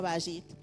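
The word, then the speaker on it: בית: Pero en hebreo la palabra casa, que se escribe y se pronuncia bayit, significa lugar de habitación, lugar donde moran las personas.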